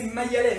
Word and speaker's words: Mayalène: C'est comme ça qu'on prononce, c'est Mayalène, hein, que je ne prononce pas mal ton prénom.